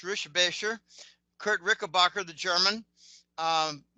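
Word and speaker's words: Richebächer: Um, I've actually met Kurt Rickbacher, which is actually pronounced Rishbasher.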